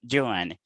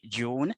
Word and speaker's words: Joan: it's joanna all right the jamaican pronunciation is closer to catalan than uh than american english that that seems to